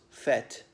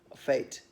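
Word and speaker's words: fête: the other day was fete fate as in mmm like a market affair but spelt f ete with a circumflex in the first e perhaps one of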